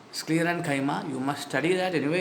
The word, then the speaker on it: sclerenchyma: Parenchyma, collenchyma, sclerenchyma. Paren, colon, scleren. Pronounce that. Paren, colon, scleren. Parenchyma, collenchyma, sclerenchyma.